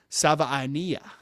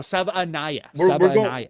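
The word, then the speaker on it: Savaiinaea: Apparently it's pronounced Sava Ania. So no Sava Anaya.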